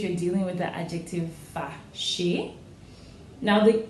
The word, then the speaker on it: fâché: Fâché, when it's turned to the feminine, only changes in spelling, it does not change in pronunciation.